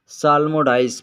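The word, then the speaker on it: psalmodize: साल्मोडाइज, यहाँ पर P silent रहेगा। साल्मोडाइज पढ़ा जाएगा।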